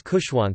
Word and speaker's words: Khushwant: He chose Khushwant so that it rhymes with his elder brother's name Bhagwant.